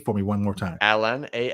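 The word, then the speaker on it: Alain: you haven't learned enough yes now I'm gonna butcher the name say the name for me one more time alen a l a i n and then it's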